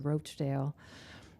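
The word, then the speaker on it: Rochedale: in fact one of our streets in cresworth hills is named after this community but unfortunately our founding fathers added an e so it's pronounced roachdale as a housing cooperative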